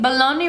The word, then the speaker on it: bologna: covered by the Bologna Bologna rhymes with lonely kind of not really stop struggling putting